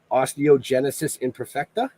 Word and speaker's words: osteogenesis imperfecta: a real genetic condition and I I'm gonna butcher the out of this osteogenesis imperfecta actually you nailed it imagine that been wow